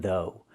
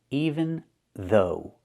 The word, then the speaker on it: even though: Now let's talk about even though. Pronunciation: even though. Use the TH sound, th, like in mother and father, and the long O like in know and go. Though. Even though.